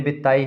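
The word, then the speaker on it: Béteille: देख लेंगे ठीक है यहां पर जो डबल एल है ये साइलेंट है तो आंद्रे बत्ताई हिंदी में आप देखते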